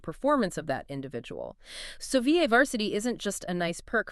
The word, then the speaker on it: VA varsity: And that's pronounced VA varsity.